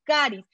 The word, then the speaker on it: Charis: Se escribe Charis en español, la pronunciación es Caris, y no solo de carismas, sino que es la Oficina Internacional de la Renovación Carismática.